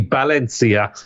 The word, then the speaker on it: Valencia: Um, in fact, it's actually it's actually Balencia, but Valencia.